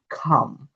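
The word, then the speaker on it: calm: 31 এল plus M এর পরে vowel না থাকলে এল উচ্চারিত হয় না। অর্থাৎ এল এম একত্রে বসলে এরপরে যদি কোন ভাওল না থাকে সেক্ষেত্রে এই এলটা উচ্চারিত হবে না। এটা হবে। মানে কি? খাম খাম ভাম সাম রুল 32 শব্দের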